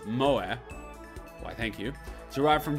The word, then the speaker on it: moe: Coined in Japan in the 90s, moe, pronounced as moe, why thank you, derived